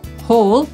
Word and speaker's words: haul: Ten wyraz wymawia się dokładnie tak samo, jak ten zapisywany h a l l, który po polsku też